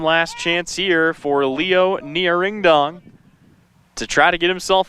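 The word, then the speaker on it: Ngiraindong: I really hope I'm pronouncing that right. N G I R A I N D O N G. That is the pronunciation we got from coach. That's what I've heard from the PA guy. That's what we're going with.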